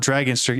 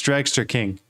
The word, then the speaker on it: Dragster King: It's not Dragonster, it's Dragster King.